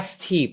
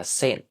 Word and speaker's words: St.: So the st part uh it's actually short for saint. So yeah, St. Paul's Cathedral.